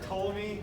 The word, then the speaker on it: Ptolemy: The P is silent, like pterodactyl. P in pterodactyl. Or Ptolemy, anyone who's a Greek fan?